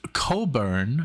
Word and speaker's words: Cockburn: with his playing then Bruce cobber now I know how to pronounce him water into wine in